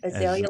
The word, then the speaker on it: Azalea: the Azalea like the flower. Azalea. Azalea. Mhm. Azalea. What in the Mhm. world? Azalea.